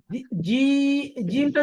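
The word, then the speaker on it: ج: করবেন কোন সমস্যা নাই জিমটা যখন বলবেন জিমটা কিন্তু শক্ত জিবার মধ্যকার উপরের তালুর সাথে লাগিয়ে এটা হলো মাখরাজ তো মাখরাজটা আলাদাভাবে আসতেছে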